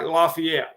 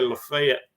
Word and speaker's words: Lafayette: jason from lafayette alabama that looks like lafayette okay if you're from louisiana but we say lafayette here i'm pretty sure i pronounced that it's down uh close